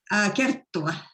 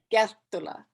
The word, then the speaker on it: Kerttula: Kerttula. Kerttula. Yeah. Well, we both mispronounce our names.